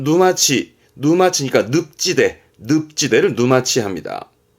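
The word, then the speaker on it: 沼地: 늪을 말하는 누마 자주 보입니다 이것도 봐두세요 그러면 발음은 누마치 마치니까 늪지대 늪지대를 누마치 합니다 요것도 자주 볼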